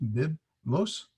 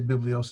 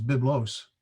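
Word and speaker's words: βίβλος: Biblios, they give you the pronunciation, biblos. I say biblios, it's biblos. I keep doing that.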